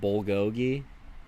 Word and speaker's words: Bulgogi: Bulgogi? Or is it Buljogi? Bool go guy. All right, bro. G. Hard G.